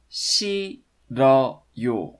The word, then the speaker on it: 싫어요: It's actually pronounced 싫어요.